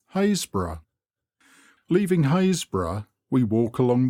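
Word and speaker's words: Happisburgh: happensberg by the villagers hasbro and by the trinity board hayes bro it is pronounced locally hasbro leaving haysbrough we walk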